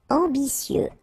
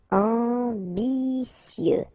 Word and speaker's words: ambitieux: Ambitieux, final X not pronounced, and then remember that you get this T, E, and then vowel, so C. Ambitieux, ambitieux.